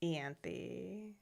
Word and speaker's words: Ianthe: Okay, so we are introduced to Ianthe, high Is priest. that how you say her name? It's Ianthe.